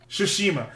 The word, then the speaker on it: Tsushima: Tsushima. Yes, I forget the T's are never fucking pronounced. Japanese 101. It goes with an S.